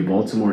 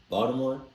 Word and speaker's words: Baltimore: First of all, anybody that pronounces the T in Baltimore, don't talk to me.